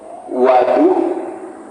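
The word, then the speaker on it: وَضُوء: Wifathiha dengan fathahnya wawu. Waduh. fathahnya wawu bacanya wadu ma yutaw bihi wada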